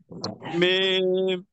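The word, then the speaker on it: ميم: দুই ঠোঁটের শুকনা অংশ থেকে মিম।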